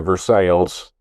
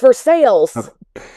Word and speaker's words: Versailles: Well, I know a fella that travels every day from El Dorado Springs to Versailles. But it's Versailles. Yeah. That's the axe murder house. Versailles, Versailles, if you're talking about Louis, this palace